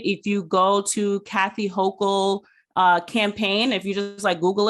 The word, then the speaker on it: Hochul: So our after midterm elections, they have determined, Miss Kathy Hochul, I think that's how you pronounce her name, who replaced Cuomo after he resigned amid all this. Hochul, sorry.